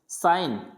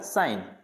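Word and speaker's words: sign: साइन, तो यहाँ पे भी जी प्रोनाउंस नहीं होगा, इसको बोला जाएगा साइन।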